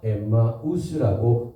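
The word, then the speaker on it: Ἐμμαοῦς: 엠마로 하는 마을로 가면서이 부분을 문장을 원어성경 시리는 해오노마 엠마우스라고 발음하고 있습니다.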